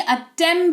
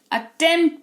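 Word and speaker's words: attempt: मतलब होता है रसीद अटेंप्ट नहीं अटम पढ़ते हैं ठीक है अटेंप्ट पढ़ते हैं तो पी साइलेंट अगेन यहां पे होता है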